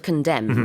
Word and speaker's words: condemn: spelling of condemn, right? Can you tell us the spelling? Yeah, C-O-N-D-E-M-N, but that last N is silent.